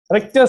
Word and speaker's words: Richter: Richter scale, th is silent. Richter scale, you are already familiar with the Richter scale related to earthquakes.